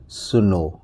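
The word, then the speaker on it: snow: की मात्रा लगा दिया, तो क्या हो गया, स्नो। इसको साइलेंट मान लेते हैं।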